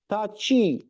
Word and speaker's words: tachi: Tachi, é como se tivesse um T antes do chi. Para nós ali, chi pode ser chi assim, ou com SH a pronúncia é a mesma. Para eles não é. Tá? Chi. Chi. É como se tivesse um T saindo e depois sai um chi.